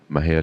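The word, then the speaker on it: Mexia: theater 923 East Main Maha Texas Mah ha is spelled m x i a our ZIP code is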